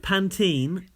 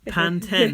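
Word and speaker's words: Pantene: nothing on us right panene panten versus panene I love hearing you two pronounce words here in the UK it is panen okay and it always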